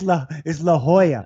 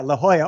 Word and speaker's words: La Jolla: La Jolla. Oh, yeah. I go, oh my gosh. No, that's a Mexican. It's La Jolla. What do you mean? Like with an H? Yeah, La Jolla.